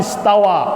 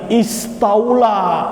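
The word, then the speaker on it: اسْتَوَى: Sudah jelas dibaca Ar-Rahmanu 'alal 'arsy istawa. Istawa. Polanya jelas, istawa. Ikut wazan ifta'ala. Ya, malah diganti istaula, ditambah huruf di sana. Padahal bacanya istawa, Allah mengatakan istawa, tapi dirubah istaula, akhirnya menafikan sifat istiwa bagi Allah Subhanahu wa taala.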